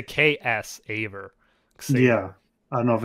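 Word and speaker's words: Xaver: it's like I used to say Xavier because they kind of spell it with an X, but it's like K. It's a KS Aver.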